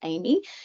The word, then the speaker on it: AME: um future pathway so an AM pronounced Amy is an aircraft maintenance engineer and that's someone who's